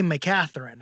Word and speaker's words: McCaghren: we say we say make a Tharin and my family says they turn the G into a T we say my Katherine but there's no way